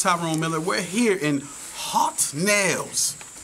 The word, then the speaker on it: Haute Nails: miller we're here in hot nails did i say it properly yes you did well the owner and